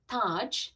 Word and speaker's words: Taj: And there's no, so my youngest is named Taj, like Taj Mahal.